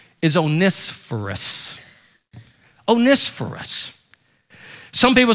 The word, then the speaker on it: Onesiphorus: it's even difficult to pronounce his name is onisforus oneis for us some people say oh nissaforce that's from the south but the greek pronunciation of it is onespherus and onisporus was a guy who refused to